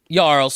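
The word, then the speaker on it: jarl: like Chiefs going around yles who control like which is spelled with a J which is dumb but whatever so the Ys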